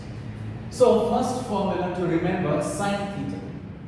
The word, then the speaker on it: sine: first formula to remember sine theta please pronounce it properly it's not sin theta it's sine s so sine theta is